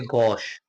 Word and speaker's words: gauche: Left hand के लिए गॉश, ठीक ना, GAUCHE स्पेलिंग ध्यान दीजिएगा, GAUCHE गॉश, ठीक ना।